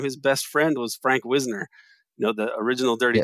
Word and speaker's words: Wisner: I mean, Katherine Graham's husband, Phil Graham, his best friend was Frank Wisner, you know, the original Dirty Tricks guy. Wisner, I thought it's pronounced.